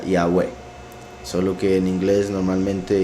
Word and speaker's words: Yahweh: persona masculina futuro imperfecto, el acento va al final, sería Yahweh.